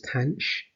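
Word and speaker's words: tanh: function for tan which we uh pronounces tanch i think i say you might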